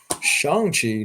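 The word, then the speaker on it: Shang-Chi: be from the newest shang chi or shang chi as i have now found out i have been pronunciating it pronouncing it wrong this whole time shanxi number four because i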